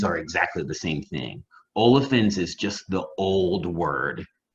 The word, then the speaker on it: olefins: So see polyolefins, it's not PH like dolphins, it's F like the other way F is pronounced, you know what I mean? So it's olefins like that.